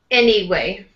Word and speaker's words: anyway: Anyway. Anyway. Any is going to be stronger than way. Anyway.